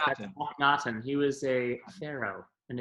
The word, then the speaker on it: Akhnaten: of Amon in Philip Glass's, I'm going to pronounce this correctly, I hope, Akhnaten? Correct, that's Akhnaten.